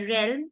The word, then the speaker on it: realm: But in the word realm, it is E sound.